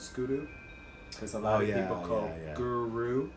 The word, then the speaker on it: guru: Kaimuki generally within our you're not pronouncing it as an herb you're pronouncing it as it go so you're sticking the the tongue on the back of the teeth and the roof the mouth so like in the